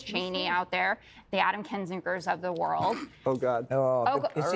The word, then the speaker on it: Kinzinger: Kunzinger. You're not sorry. Kinzinger.